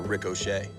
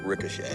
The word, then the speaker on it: ricochet: And we really got to watch out for Rick O'Shea. Why do you find that so funny? How do you say it? Pretty much the way the rest of the planet does. Ricochet.